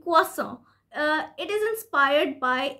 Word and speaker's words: croissant: So this is a French word, and this is pronounced as, listen very carefully, croissant, croissant, croissant. So this word has two syllables, and it is pronounced as croissant, croissant.